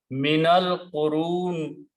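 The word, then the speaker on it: مِنَ الْقُرُونِ: To do that, you have to change this to a fatah and this to a swad, which means do not pronounce alif. Minal qurun.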